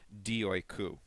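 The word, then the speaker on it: δι' οἴκου: And so here we do not simply have dia oikou, which is a little more difficult to pronounce when the Greeks were saying it, but it's just simply dioikou. Okay, it's just a matter of what is known as elision, that is sliding together the two sounds to form one sound.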